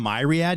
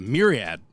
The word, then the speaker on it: myriad: now I am because that's not how you say it it's a myriad not myad you're talking about how